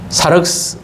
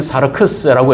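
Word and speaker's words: σάρξ: 그래서이 육신이다라고 하는이 표현은 사스 아니면 사르크스라고 읽는데이 사스라고 하는 것은 어 언젠가는 썩어지고 사라지 사라질 흙의 존재로 돌아갈 그런 육체를 어 이야기합니다.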